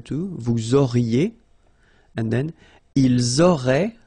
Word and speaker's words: auraient: vous auriez, and then, ils auraient, little link, but then look, A-I-E-N-T like that, and you only pronounce E, like we had here. It will be exactly the same pronunciation here.